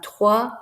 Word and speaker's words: trois: X sound um van trois we don't pronounce the S because it's not followed by that uh magic e afterwards so just different things